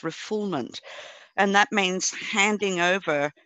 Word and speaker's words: refoulement: Looks like refoulement, but it's pronounced refoulement.